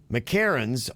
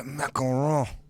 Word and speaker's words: macaron: She says, it has a long O. Macaron. Macaron. Macaron. Macaron. Macaron. Macaron. Give me some of the macaron.